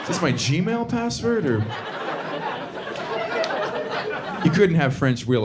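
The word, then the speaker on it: eau: is pronounced o and it's spelled with three different vowels none of which are o the the vowels unionize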